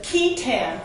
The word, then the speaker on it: qui tam: I have a lot of articles on the qui tam, 4 years of Latin tells me that's the right way to say it, the qui tam